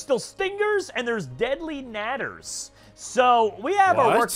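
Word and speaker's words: Nadder: stingers and there's deadly natters. So we have our work cut out for us still. Hold on, deadly what? Natter. Are you sure it's not pronounced nader? No, it is not Ralph Nader, political opponent from 1990s, okay?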